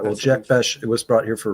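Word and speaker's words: Jack Bech: Jack Beck was brought here for a reason.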